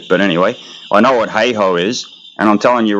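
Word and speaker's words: HAHO: saying you're saying and you mispronounced it by the way you said hi ho is heho high altitude high opening jump and you cannot according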